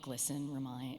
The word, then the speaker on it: GLSEN: I really love that GLSEN rhymes with listen, because the key to life is to listen and connect and love.